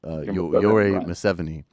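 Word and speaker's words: Yoweri Museveni: The president of Uganda, the dictator, right, Yoweri, right, Museveni, who you, I'm sure, will correct me because I'm confident I mispronounced at least part of that, and I apologize.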